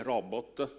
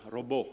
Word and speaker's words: robot: di gianluca il termine robot detto proprio diciamo pronunciato robot e non come a volte si ascolta nei media robot alla francese deriva dallo slavo che